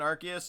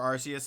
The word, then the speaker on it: Arceus: currently hunting anything in arceus or or rcs however you say it i say them both i interchange them i the pokemon company i believe still doesn't know how to say it because in the arceus movie alone they say both arceus and arceus so i got about